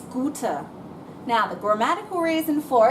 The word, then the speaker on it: gute: it out that's right there's no n on good it's not Gooden like these other three it's gouter now the grammatical reason